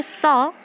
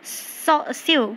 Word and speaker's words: sew: Will you tell me वाई it's true we से सॉ but likewise फ्यू? ये देखिए यहाँ पर जो SEW है, सम स्टूडेंट्स इसको प्रोनाउंस करते हैं स्यू, but that is not called स्यू, इसे हम सॉ प्रोनाउंस करते हैं, राइट।